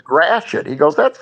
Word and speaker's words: Gratiot: One is called Gratiot, which as kids we thought, oh, great, we can say Gratiot. But it's spelled, I think in French, it's Gradot or something like that because there's a lot of French stuff.